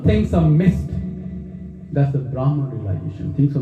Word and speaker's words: Brahman: When we go there, if we merge into Brahman, that's eternal realization.